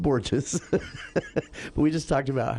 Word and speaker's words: Borges: It's pronounced Borges.